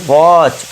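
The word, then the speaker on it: watch: यदि टी के बाद सी एच हो या फिर इ एन हो या फिर एल ई हो तो टी साइलेंट होगा।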